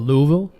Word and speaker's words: Louisville: It's funny you pronounce it like a local. What? Louisville. That's how it's supposed to be said, right?